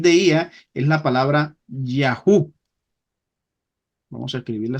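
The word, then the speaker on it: יהו: ía es la palabra yahu vamos a escribirla se pronuncia más o menos así suena la pronunciación yahu así por ejemplo el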